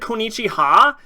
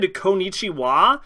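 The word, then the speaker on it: こんにちは: not W that's ha is it said Konichi ha am I an idiot have I been saying it wrong the entire time so I look it up and it is said kichi wa but you use the character for ha instead of w at the end of konichiwa and I'm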